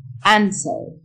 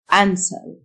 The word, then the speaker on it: answer: Answer. W silent. Answer.